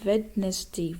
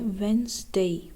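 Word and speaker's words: Wednesday: Next word है, हम कहते हैं वेडनेसडे, वेडनेसडे, वेडनेसडे, जबकि इसका सही तलफ़ुज़ है वेंसडे, वेंसडे, वेंसडे। जो फर्स्ट डी है वो साइलेंट है।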